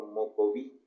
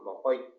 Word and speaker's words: Mocoit: los datos que existen, está escrito como Mocoví. Mocoví. Ajá. Exacto, pero nosotros nos consideramos, o sea, entre nosotros cuando nos hablamos, nosotros nos llamamos Mocoit. Mocoit, bueno. Esa es la pronunciación.